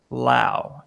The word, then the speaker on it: Lao: Okay, Larry, the expert on Thailand, says pronounced Lao, Lao. LAO.